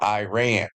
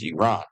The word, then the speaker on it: Iran: Or as you Americans call it, Iran. But around the world it's known as Iran, okay? It's proper pronunciation.